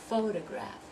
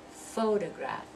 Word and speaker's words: photograph: there three syllable words the stress and all of those is going to be on the first syllable so they're going to have that sound uh so um so we're going to do photograph photograph Telegraph Democrats diplomat politics personal competent